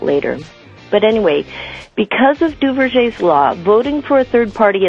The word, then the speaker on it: Duverger: Because of something called Duverger's law, and that's spelled D-U-V-E-R-G-E-R, Duverger's law, this structure always results in a strong two-party system.